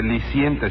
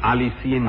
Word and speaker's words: aliciente: no le digo que no se dice licente sino aliciente Ah eso mismo sí